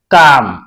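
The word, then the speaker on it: calm: पाम क्या पढ़ेंगे पाम सी ए ए एल एम अब इसमें भी ए एल है तो एल साइलेंट रहेगा काम पी एस ए एल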